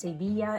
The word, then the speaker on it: Sevilla: It's actually pronounced Sevilla in Espanol, but since we're an English-speaking channel, we're going to stick with Seville.